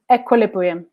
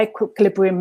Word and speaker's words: equilibrium: there we go so how many syllables are in equilibrium five thomas was straight in that brilliant can you tell me which syllable is stressed in that word laura has shown it yeah every great so it's the la the third syllable and this is why